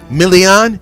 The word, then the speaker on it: Milian: And we got, let me say it the Italian way, Milian.